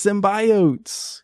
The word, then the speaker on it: symbiotes: It's symbiotes.